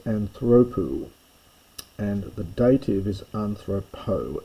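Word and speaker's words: ἀνθρώπῳ: The genative is anthropo and the dative is anthropo. Notice the little leota subscript. You must write it but you don't pronounce it but it's very important.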